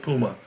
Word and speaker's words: Mpouma: Puma, like the Puma. tennis shoes. All right, Puma like the tennis shoe. Okay, so listen, many of you guys wouldn't get a chance to meet Paulette Puma.